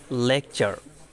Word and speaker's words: lecture: এরপর হচ্ছে rules number 7, শব্দে টি থাকলে টি এর পরে ইউ থাকলে টি এর উচ্চারণ চ এর মতো হয়। উদাহরণ লেকচার, স্পেলিং হচ্ছে LECTURE, এখানে কিন্তু টি এর পরে ইউ আছে মানে লেকচার, এখানে চ এর মতো উচ্চারণ হয়।